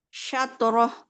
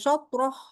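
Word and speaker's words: شطره: Syatroh. Nah, tadi nggak begitu. Coba baca dari wajuhakum. Wujuhakum satroh. Oke. Tadi bacanya itu soproh. Jadi Iya, shinnya bacanya bukan sha, tapi sho.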